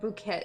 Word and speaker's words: Bucket: their last name um oh it's bucket but it refer to be pronounced like it's French wait is it bouquet like they say bouquet like oh she go